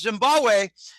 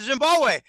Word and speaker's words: Zimbabwe: phone connection he said Zimbabwe I said where Zambia he said no Zimbabwe the second B in Zimbabwe is silent it's Zimbabwe he believes that Zimbabwe